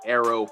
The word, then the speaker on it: Airo: I wanted to drop this quick video and explain a trade that I took with utilizing Airo (pronounced arrow) 5.0, all right.